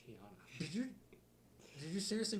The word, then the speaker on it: Tiana: honor tiana that's how you that's how it's pronounced tiana did you did you seriously rate it as tina yeah goddamn tiana uh based on princess of the frog it's